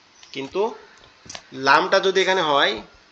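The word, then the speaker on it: لام: এবং লামটা এক জায়গা থেকে জিহ্বার আগা উপরের তালুর সঙ্গে লাগবে, লেগে উচ্চারিত হবে লাম লাম, এরকম ভাবে।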